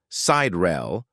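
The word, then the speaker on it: Sideræl: The final part of her name, Siderel, pronounced Sider-el, has a dual meaning.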